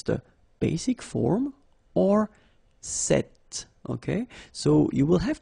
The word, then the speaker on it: cette: So it's quite interesting because if you listen carefully, the masculine form here, cette, and the feminine form here, cette, you write them differently, but then you pronounce them the same way.